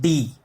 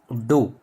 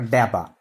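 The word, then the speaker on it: ∂: It is not d, it is do or daba.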